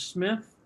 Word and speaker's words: Smyth: is Edward Smyth, and he pronounces Smith like the cough drops, the Smith brothers cough drops that nobody remembers.